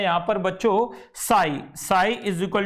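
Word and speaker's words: psi: इसको बच्चों प्रोनाउंस किया जाता है साई, वैसे इसे लिखा जाता है ये पसाई बोलेंगे इसे, लेकिन पसाई होता नहीं है, ये एक्चुअली पी साइलेंट है।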